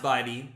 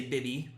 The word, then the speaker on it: Bibee: come on baby baby I think it's pronounced body a lot of people in Cleveland say bitty which I get but bitty is with two B's body is with two e's or at least that's how it was explained to me